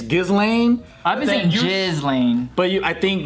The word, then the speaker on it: Ghislaine: of the song thank God we got Eddie pronounce her name galine galine it's basically if it's felt like that it's Ghislaine Jasleen but you I think Ghislaine or something